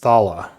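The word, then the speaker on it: Thaala: you what did you say her name is thala t-h-a-a-l-a she says I do in draconic ah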